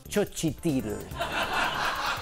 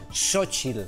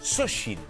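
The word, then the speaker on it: Xóchitl: veure, es diu així, però no es pronuncia Xochitl. Que és un nom que sona Xochitl, ja ho sé, sona de producte d'higiene femenina. Xochitl i a gaudir. No és això. Un moment. Morena i Xochitl? Sí. Sembla que han triat el nom de les candidates uns paletes que estaven fotent les obres. Queco, sisplau. Queco, sisplau. En realitat es pronuncia Xochitl. Xochitl.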